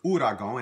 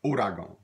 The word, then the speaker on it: ouragan: The word you see after that is the word, looks like the word ouragan, and it may be pronounced like that. More often we pronounce it ouragan.